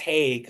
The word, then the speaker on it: Heague: Heague, last name is pronounced Hague, so you know Yeah.